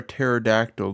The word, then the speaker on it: pterodactyl: uh all right mea why can't you hear a pterodactyl going to the bathroom because the p is silent good Le better